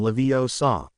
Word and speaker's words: Leviosa: It's when garium levio saw. Make the gar good and long." And put the stress on the o leviosa, not the a Weasley all but threw his wand down on the table.